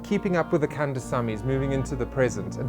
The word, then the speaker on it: Kandasamy: Keeping Up With The Kandasamy is moving into the present. Did I pronounce it correctly, firstly?